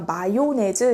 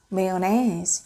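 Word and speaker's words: mayonnaise: 요것도 사실 우리가 마요네즈 이렇게 내음절로 된 단어라고 이해를 많이 하고 계신데 요것도 사실은 메요네즈 이렇게 강세만 좀 다를 뿐이지 미국식, 영국식 전부 다 메요네즈라고 발음을 해요.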